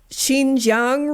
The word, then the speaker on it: Xinjiang: This movie was largely filmed in, I think it's pronounced Xinjiang region, which is where all the internment camps are for the Muslims.